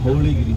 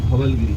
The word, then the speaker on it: Dhauligiri: Kindly remember Dhauligiri, not Dhavalgiri, Dhauli.